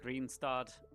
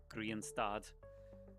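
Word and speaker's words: Grianstad: And uh it's called Green Stard in Irish, for a little Irish pronunciation for you, Green Stard, which means sun stop, basically.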